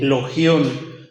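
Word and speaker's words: λόγιον: logion l o g y latina o n logion logion mejor dec mejor eso se pronunciaría una forma diminutiva de la conocida expresión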